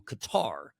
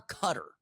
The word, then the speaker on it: Qatar: And, you know, there's been a lot of people sounding off about his visit to Qatar or Qatar. I say Qatar. It's kind of the old school way of pronouncing it.